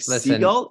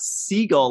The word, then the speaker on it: Segal: I'm like, Seagull? She's like, "It's not seagull like the bird. It's seagull."